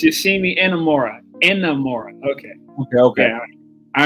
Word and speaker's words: Inamura: something I don't know I don't know how pronounce that man name oh no it's yimi inamura inamura okay okay okay I remember uh Vic